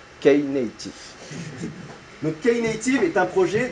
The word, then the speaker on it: Knative: Et ça se prononce Knative.